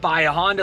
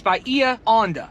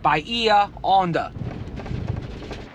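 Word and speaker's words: Bahia Honda: It's not Bia Honda like you're at a Honda dealership. It's Bia Honda. 10 years and we now finally have the right way to say it. Bia Honda.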